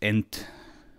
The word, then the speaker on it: EnTT: looking library called enttt i think it's supposed to be pronounced entity but that's that's a